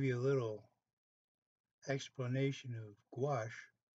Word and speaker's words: gouache: a little explanation of gouache it's actually sounds like g-w-a-s-h that's how you pronounce it and gouache watercolor is not transparent